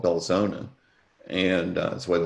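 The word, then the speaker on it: Belzoni: voters in humphreys county is a place called belzona and that's the way the locals pronounce it and so while he was driving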